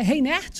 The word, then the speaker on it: Reinert: É Reinert mesmo que pronuncia, professor? Isso.